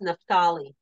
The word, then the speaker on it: Naphtali: Nephtali. Greg says it's pronounced Nephtali.